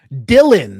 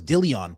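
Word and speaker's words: Dhillon: Dylan, that's how you say it. I thought it was Dillion.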